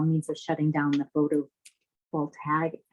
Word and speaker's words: photovoltaic: All means of shutting down the photovoltaic.